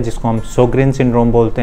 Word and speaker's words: Sjögren: इस वर्ड में जे साइलेंट होता है तो हम बोलते हैं इसे सोग्रेन सिंड्रोम।